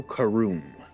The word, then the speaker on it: Karoom: oh wow, is it Kumar? Karun, was it? How'd you say his name was? I'm sorry. No, you're good. It is Pharaoh Karoom. Karoom.